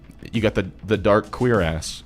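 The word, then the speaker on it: cuirass: least homophobic way possible it is pronounced queer ass they put that in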